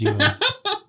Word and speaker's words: Ioan: Ian Grufford? Yeah. Ioan. How do you pronounce that? Ioane. Ian? Ian? Ewan. I think it's Ewan.